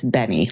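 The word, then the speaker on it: benne: Benny wafers, which I heard them call them Benet wafers. It's Benny, like B N Y, even though it's not spelled like that.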